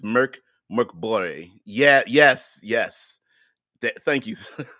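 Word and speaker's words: Mörk Borg: Uh, Deadman says the name of the game pronounces Merc Borg.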